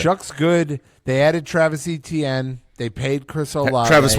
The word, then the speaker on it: Etienne: They added Travis Etienne.